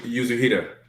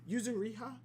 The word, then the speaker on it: Yuzuriha: Yeah, it was like Yuzuhira. Yeah, here it is. Yuzuhira. Yeah, Yuzuriha.